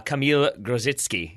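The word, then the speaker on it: Kamil Grosicki: I think I've got it and also a kamila grows its key is how you say the loud winger for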